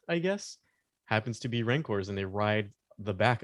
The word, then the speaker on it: Rancor: It would be really cool to get a bumper sticker that says my other ride is a Rancor. Wouldn't that You pronounce it ranker. Show Freddy ranker.